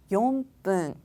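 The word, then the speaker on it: よんぷん: 용분.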